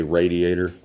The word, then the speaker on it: radiator: little residual in the radiator uh i know some of you say radiator but if you look at how it's spelt there's it's not raid it's rad but there's a little bit